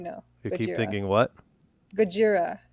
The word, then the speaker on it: Gojira: you keep thinking what gajira which is like how godzilla is pronounced oh gogeta yeah vegeta